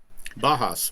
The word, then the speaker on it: Bauhaus: Bajas.